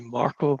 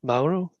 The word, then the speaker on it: Mauro: Sorry, I almost called you Marco, but Mauro. Yeah, Mauro. It's one of the most difficult names to pronounce for non-Italian speakers, I guess. This is AU, which is pretty tricky, it seems.